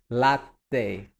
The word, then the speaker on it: latte: Then we have latte. The E you have to pronounce as well.